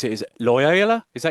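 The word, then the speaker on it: Loyola: Talk about your time is how you pronounce it is Lyola. Is that how you pronounce it? Lyola. Yeah, Lyola.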